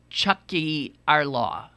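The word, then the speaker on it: Tiocfaidh ár lá: The Irish Catholics use slogans like, and I can't pronounce this word, uh, pronounced Chucky our law, which means our day will come.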